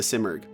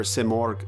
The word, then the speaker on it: Simorgh: He also tells you to look for the Simurgh. I'm guessing this will be a head scratcher for most people, but I already knew what a Simurgh was. A Simurgh, or Simorgh to use the Persian pronunciation, is a mythological bird